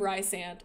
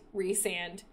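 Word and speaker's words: Rhysand: the entire Boy book calling him Ry sand and he will forever be Ry sand for me I don't care if that's the wrong way to pronounce his name I hate reand it's disgusting I hate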